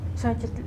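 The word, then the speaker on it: Xóchitl: Entonces este es esdrújula. Exactamente. Xochitl es esdrújula.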